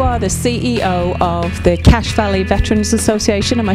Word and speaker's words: Cache Valley: Now, Phil, you are the CEO of the Cache Valley Veterans Association.